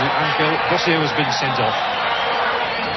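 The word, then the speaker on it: Ángel: And since then, the centre-half for Uruguay, whose middle name is Angel, and he pronounces it Angel, Bosio has been sent off.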